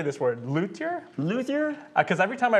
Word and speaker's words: luthier: Josh House, everyone, and you are a Luthier. luthier. Yeah. Now, if you're French, the pronunciation is Luthier.